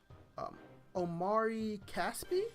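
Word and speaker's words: Omri Casspi: So we have PJ Tucker, Omari Caspi, that's how you say his name, Royce O'Neal, Glenn Robinson III, Nick Young.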